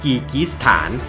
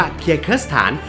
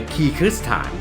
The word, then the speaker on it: Kyrgyzstan: ครับ ใน แผนที่ เนี่ย เขา อาจ จะ เรียก ว่า ประเทศ กีกิ สถาน แต่ จริง ๆ แล้ว เนี่ย ประเทศ เนี้ ออก เสียง ว่า เคีย คสถา เหรือ คีค สถาน มี อาณาจักร เนี่ย อยู่ ติด